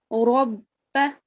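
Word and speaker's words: ربَّ: Okay, and we learned recently that whenever the letter Ra carries a Fatha or its Tanween, we have to make a thick sound. Okay, so this is going to be Rabba.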